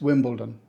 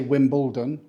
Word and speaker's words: Wimbledon: heard of this one pronounced correctly it's Wimbledon we don't say Wimbledon or wimble Dawn the trick is to soften the dawn into done and while you're at